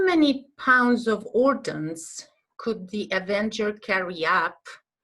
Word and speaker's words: ordnance: Okay, here the questions are, how many pounds of ordnance could the Avenger carry up? And what kind of plane was sent to rescue the three-seater Avenger? Yes? What is this word, ordnance? Ordnance, do you know?